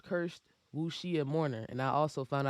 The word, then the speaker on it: wuxia: wuxia mistress and then nymph is called cursed wu shia mourner and i also found out how to pronounce what she is so that's why i